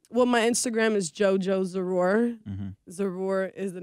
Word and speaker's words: Zarur: they so can find So it's Z. It's like Zara. Zara, but you know what I'm saying? Zarur. Zarur.